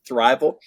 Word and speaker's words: Thriveal: It looks like Thriveal, but it's pronounced Thriveal.